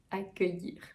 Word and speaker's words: accueillir: A, très ouvert, que, accueillir.